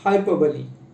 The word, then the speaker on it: hyperbole: See, the pronunciation is somewhat different. उच्चार थोडासा अवघड आहे, क्लिष्ट आहे, त्याला म्हणतो आपण हायपरबली.